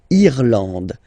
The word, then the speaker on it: Irlande: Remember, this is E and it should be pronounced like E. Irlande. Irlande. Okay, A-N, en, D, and final E, not pronounced.